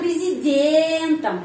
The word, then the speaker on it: президентом: если бы Я был президентом. Ya, kenapa di sini президентом ucapannya am? Karena президентом pengucapannya ada yang penekanan. Ya, penekanan berada pada huruf Y. Karena itu O ini dibaca A, президентом.